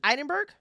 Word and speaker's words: Edinburgh: Is it Edinburgh? Edinburgh. There we go. Put some respect on my pronunciations.